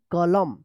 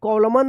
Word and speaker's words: column: एम आया है, तो MN एक साथ रहता है तो क्या होगा, N साइलेंट रहेगा, M का उच्चारण होगा, क्या पढ़ेंगे, कॉलम, कॉलम पढ़ेंगे, कॉलम, COLUMN, कॉलम, कॉलम, ठीक है। कॉलमन मत पढ़िएगा, यहाँ पे